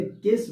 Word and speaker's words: cache: Word मैंने लिखा है, आप ये विचार मत कीजिएगा कि सर ये स्पेलिंग गलत है। नहीं, ये जो केस मेमोरी होती है इसकी जो स्पेलिंग होती है वो यही होती है, CACHE, केस मेमोरी।